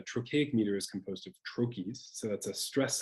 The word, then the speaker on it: trochee: meter is composed of trochees. So that's a stressed syllable followed by an unstressed syllable. Very common English words would include garden, highway, poet. The word trochee is also a trochaic word.